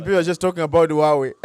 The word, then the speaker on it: Huawei: In the comment section, people are just talking about Huawei. It is Huawei, not Huawei. Come on, guys. It's Huawei. It's Huawei. There's no H when you're pronouncing these names.